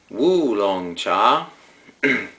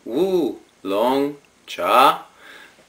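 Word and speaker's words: 乌龙茶: see it but the the closest pronunciation in Mandarin Chinese is something like and here goes wo long cha I did practice that cuz it's basically woo long cha tell me if this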